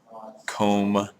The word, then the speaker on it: comb: Comb, it's kind of a silent B.